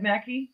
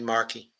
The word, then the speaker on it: Markey: no there's no waitings Ed Mackey is that his name Mackie Ed Mackey or Marky how do you say it I'm Ed Markey Markey yeah it's like well